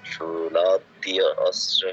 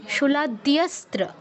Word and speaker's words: শূলাদ্যস্ত্র: আচ্ছা, শূলাদ্যর পরে অটা কোথা থেকে এলো? শূলাদ্য অস্ত্র তো নয়, শূলাদ্যস্ত্র, মানে আলাদা করে আমরা অ বলবো না, ঠিক আছে? সন্ধি ওখানে ভাঙলে চলবে না। শূলাদ্যস্ত্র, শূলাদ্য অস্ত্র নয়, ঠিক আছে দাদা?